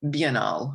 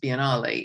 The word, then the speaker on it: Biennale: the Venice Biennale, or Biennale. I don't know how they exactly pronounce when they anglicize things, but the Biennale would be the Italian pronunciation.